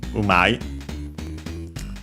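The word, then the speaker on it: うまい: Okay, accented, so umai. So in our case, as we see, it actually becomes umaku, accent on the U.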